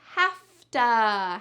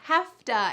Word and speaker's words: hafta: The next reduction is hafta. Hafta. And hafta is have to. Notice that in the full word, there is a V, but in the reduction, we pronounce it with an F.